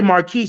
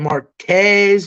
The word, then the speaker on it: Marquise: If you say Marquise, I'm fine with it because that's how people are supposed to say it. But I go by Quez too. A lot of people be saying Marquez, oh God, Quez.